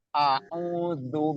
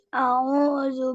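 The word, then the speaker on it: أعوذ: A'udzu billahi minasyaitonir rajim. Coba ikutin. A'udzu billahi minasyaitonir rajim. Shinnya juga itu ada tasdid di situ. A'udzu billah, bukan zu tapi zu. A'udzu billahi minasyaitonir rajim.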